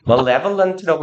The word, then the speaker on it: malevolent: 그래서 malevolent라고 읽고 얘는 malign이라고 읽어요.